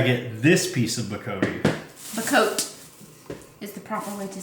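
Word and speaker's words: Bocote: At least I think that's how you pronounce it. It's Bacote. And not only did I get this piece of Bacote. Bacote is the proper way to say it.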